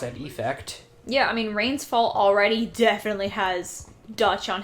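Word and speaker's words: Rains Fall: Is it Rain's Fall or Rain Falls? Rain's Fall. I had the same struggle for a while. Got it. I said it right the first time and then doubted myself.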